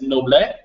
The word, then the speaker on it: Noblet: So the guy then is the big word on here, this Nicolas Noblet? Yes. Did I say that right? We don't pronounce the S when Nicolas Noble.